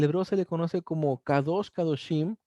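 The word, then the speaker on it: קדוש: La palabra santo en el hebreo se pronuncia kadosh, que quiere decir separado, consagrado y dedicado.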